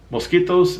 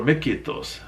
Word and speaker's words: Miskitos: Mosquitos, Mosquitos, or Miskitos. You can see these are spelled and pronounced different ways.